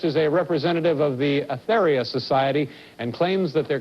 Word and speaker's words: Aetherius: Tell me about the, did I pronounce it correctly, the Aetherius Society? Aetherius, A-E-T-H-E-R-I-U-S.